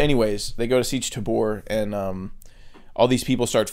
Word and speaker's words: Tabr: I always read it as Siege Tabor, but in the movie they're saying Tabra. Because it's spelled T-A-B-R.